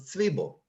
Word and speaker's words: Zwiebel: But the correct pronunciation, going back to the Alta Haim, of course, was Zwiebel, as in what you have on Shabbos together with your eggs.